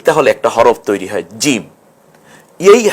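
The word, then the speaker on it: جيم: নুক্তা যদি দেই তাহলে একটা হরফ তৈরি হয় জিম এই হা এটাকে আমরা জিম বানাতে পারি এখন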